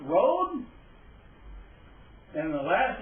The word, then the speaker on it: Rhode: name r h o d e is that pronounced Road and the last name is spelled RH AJ